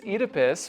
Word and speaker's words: Oedipus: It's Edypus. Well, you might not be mistaken. It's It's just the American pronunciation.